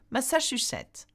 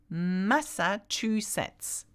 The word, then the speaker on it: Massachusetts: Massachusetts. Massachusetts. Sorry? Massa. Yeah? Chew. Chew. Sits. Massachusetts.